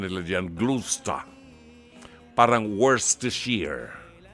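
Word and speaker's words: Worcestershire: sa sa kanilang mga ano mga briton ang pronunciation nila diyan gla parang worst to sheer ' ba hirap na hirap tayong mga Pilipino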